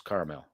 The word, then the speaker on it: caramel: Starts with 2 syllables, caramel.